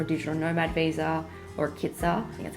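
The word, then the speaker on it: KITAS: or looking for a digital Nomad Visa or kiter that's how you say it you actually I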